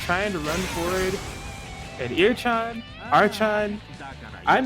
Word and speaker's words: Archon: Okay, so it looks like it's pronounced Archon. Like StarCraft, I guess.